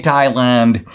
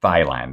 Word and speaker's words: Thailand: I pointed out, first of all, that virtually everybody on the entire continent of South Asia pronounces it Thailand. They pronounce it the way it's spelled. They pronounce the H.